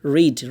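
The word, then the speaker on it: read: রিড, রিড মানে পড়া, রিডের past tense হচ্ছে রেড, রেড, রিড মানে পড়া, এটা পাস্ট রেড, রেড মানে একটু একার ভাইব দিবে আর কি।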